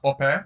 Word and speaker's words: Ope: sure how to say Yes, traditionally it's pronounced Ope.